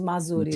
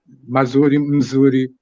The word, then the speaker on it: Mzuri: I said it wrong. It's the whole thing is Mazuri, right? Mazuri. Mzuri. Yeah.